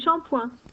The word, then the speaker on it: shampoing: So in English it looks like shampooing, right? But listen carefully to the pronunciation. Du shampoing.